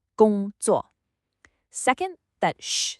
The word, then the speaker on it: 工作: It's a first tone, then a fourth tone. Listen, 工作, high and flat, then a sharp drop. A very common mistake is to let that second syllable stay high, making it sound like 工作. That's not right. You gotta hit that falling fourth tone, 工作.